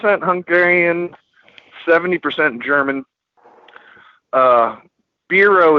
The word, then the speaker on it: Biro: seventy percent german uh bureau is the actual how do you pronounce my last name uh i didn't know